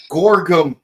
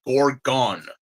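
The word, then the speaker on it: Gorgom: of funding and then Gorgum decided to help us. I had a hard time pronouncing this this group's name. So I thought I said it was Gorgon.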